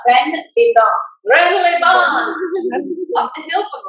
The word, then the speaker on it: Rennes-les-Bains: It's Rennes-les-Bains if you're English. Rennes-les-Bains.